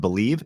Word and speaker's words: Bleav: Make sure to use the promo code BELIEVE, and that's spelled BLEAV, to receive your rewards.